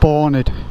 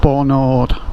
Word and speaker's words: Barnard Castle: All the locals pronounce it Barnard, not Barnard. If you say Barnard, you will get the piss taken out of you for being snobby and posh.